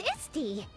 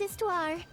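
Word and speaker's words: Histoire: forgive you today it's isty this small small fairy looking girl is istar or YY as I like to call her not sure why the H isn't pronounced on that but it's fine they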